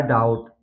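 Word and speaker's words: doubt: date इसी तरह है डाउट डाउट में भी आप देख सकते हैं यहां पर टी से पहले बी आया है इसलिए बी साइलेंट है सीधा पढ़ा गया है डाउट इसी तरह है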